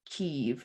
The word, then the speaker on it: Kyiv: I guess if the more Ukrainian way to say it is Kyiv, and it's spelled Key, K-Y, I'm sorry, K-Y-I-V instead of K-I-E-V, like chicken Oh, okay.